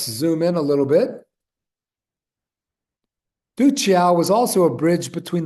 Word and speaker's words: Duccio: Or I think that's pronounced Duccio. I'm sorry, the accent's on the first syllable.